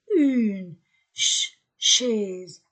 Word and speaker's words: chaise: une chaise une un une chaise a I et s entre de voyeles Z une chaise au pluriel